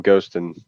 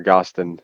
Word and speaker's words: Gustin: Jacob is my brain started dude we were talking I was because so Bobby and a Abram Goston or Gustin is how you actually pronounce it.